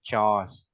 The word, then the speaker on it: chores: Là chores em, đọc là chores.